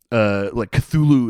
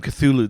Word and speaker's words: Cthulhu: Yeah, and even the name Cthulhu, the way I'm pronouncing it is not the way Lovecraft pronounced it. Oh, I can't even do it how he pronounced it. It's supposed to be more like Hluluthu or something like that.